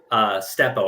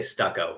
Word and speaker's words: Steppo: He saw a picture of a comic from Steppo. I always want to say Stucco when I say his name.